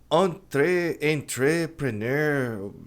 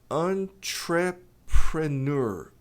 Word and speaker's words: entrepreneur: A pronúncia é entrepreneur. Entrepreneur, tônica no entrepreneur.